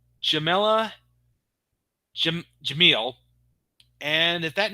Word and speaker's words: Jamila Jamil: It turns out that the voice of Asenka was performed by Jamila Jamel. I'm probably mispronouncing the name. I'm sorry. Let me try that again. Jamila Jamil.